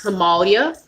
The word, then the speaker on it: Himalaya: Least expensive than that is Himalaya. Or it's called, a lot of us say Himalaya, because I said that forever until a representative told me I was saying it wrong. So it's Himalaya.